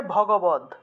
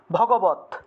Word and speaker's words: ভগবদ্: তাই এটার প্রকৃত উচ্চারণ হলো, যেহেতু এই হসন্তযুক্ত দয়ের উচ্চারণটা তৎ হিসাবে হয়ে যায়, তাহলে শ্রীমৎ, শ্রীমৎ ভগবত, ঠিক আছে। ভগবদ না হয়ে প্রকৃত উচ্চারণ হলো ভগবত, ভগবত, ভগবত, ঠিক আছে, এটা প্রকৃত উচ্চারণ হলো ভগবত।